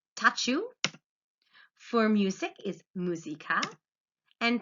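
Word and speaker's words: tchau: on top of it goodbye they would pronounce as touch you for music is musica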